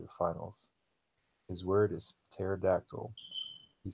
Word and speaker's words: pterodactyl: His word is pterodactyl. He sounds it out, but forgets the silent P that comes at the beginning of the word.